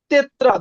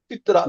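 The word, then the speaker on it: тетрадь: লবণ সোল মানে লবণ এটা কি তেত্রা বাট এটার উচ্চারণ তিত্রাত এই দেখেন উচ্চারণটা দেয়া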